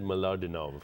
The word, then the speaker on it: Mlodinow: Deepak Chopra, how do I pronounce this? Leonard Mlodinow.